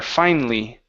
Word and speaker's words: finally: Okay, instead of finally, give me an E sound there. Finally.